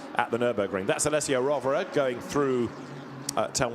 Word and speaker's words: Rovera: It's a shame we've been saying his name wrong for so long, isn't it? Because Rivera sounds much faster, but Rovera, as we've been told this season, is how it's pronounced in his native tongue, and been strong again